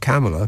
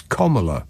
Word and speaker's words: Kamala: And now we've got this Kamala, pronounced Kamala. I'm never going to get used to that because it looks like Kamala to me, but it's Kamala, apparently.